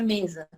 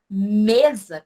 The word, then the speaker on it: mesa: Mesa, quando eu pronuncio a palavra mesa, o me, ele se torna mais forte que o za. Acreditem. Mesmo que o Z ele tenha um sonzinho assim forte, mas não. É o mesa.